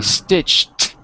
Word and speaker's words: stitched: the past would be stitched like a t stitched okay good yes